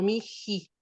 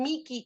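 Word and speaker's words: mihi: este caso, aspirada de esa H, cuando está entre 2 vocales, generalmente se hace esa aspiración para que no sea tan difícil pronunciar el mi o miji.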